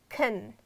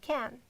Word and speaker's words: can: food can bring food I have pronounced it in two different ways can and can so why because when you use modal verbs like auxiliary verbs you can reduce the sound into schwa sound and in English we have really famous sound schwa it's pronounced like a deeply you will pronounce it here a sound it's really short and almost all vowel